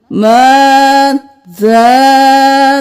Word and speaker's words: ماذا: मादा नहीं करना, माज़ा तरा, या को छोड़ देना है.